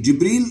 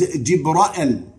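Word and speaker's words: جبريل: Jibreel is also pronounced, and this is in the Quran, as Jibra'el.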